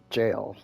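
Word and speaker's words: gaol: seems to be having a difficulty escavation site jail that's how that's pronounced a old timey way of say of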